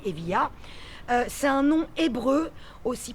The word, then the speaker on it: Evija: Donc Evia, et c'est qui s'écrit Evija, mais on dit Evia.